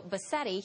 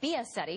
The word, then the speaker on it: Biasetti: Fox News producer Mario Bassetti. He is on the phone from Rome, has been following this for us. It's Mario Biasetti. Excuse me, let me get that syllable in there.